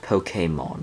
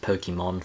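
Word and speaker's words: Pokémon: It's actually pronounced Pokemon, I think. Uh cuz you know that the accent E. So, uh I'm going to try to see if I can, you know, I'm going to try to see if I can pronounce it Pokemon cuz I believe that's actually how it's supposed to be pronounced.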